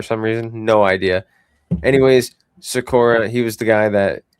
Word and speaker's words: Sikora: I guess we were all pronouncing his father's name wrong as well when he played in the NHL. But it's Sikora.